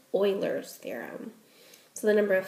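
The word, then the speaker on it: Euler: I've always pronounced it ul's theorem but I looked it up and it actually is pronounced Oilers theorem so I'm going to do my best to pronounce it correctly Oilers theorem so the number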